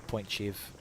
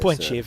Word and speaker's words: Point Chev: Point Chev, a fair mouthful. Point Chev's 2 syllables. Point Chev, a little bit quicker.